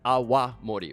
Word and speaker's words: awamori: OD is called Almaty you gotta pronounce that w if you don't pronounce a w nobody understands it to talking about Oh wah Morty right another reason is